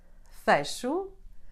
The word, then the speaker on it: fecho: You can get it in a tonic syllable when followed by the combination CH, LH, NH, or the letter J. Here are some examples. Fecho, espelho, tenho, vejo. Since I am from this region, I personally say these words this way.